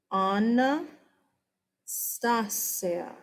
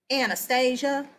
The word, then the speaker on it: Anastasia: Anna Stasia. It is not Anastasia. I just told you in America, we kind of we kind of change pronunciations of everything.